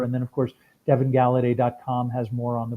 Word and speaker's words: Galaudet: that stuff really if you type in Devin gala day my name it's just gonna come up it's the easiest way I mean honestly Facebook calm /dev and gala day and my name is spelled de VI n